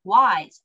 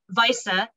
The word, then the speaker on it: Weise: have the cyborg Jillian wise sorry I pronounced that wrong the cyborg Jillian Visa correctly pronouncing with German pronunciation I remember I remember